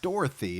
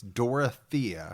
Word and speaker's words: Dorothea: Not Dorothy. It's Dorotha. Yeah.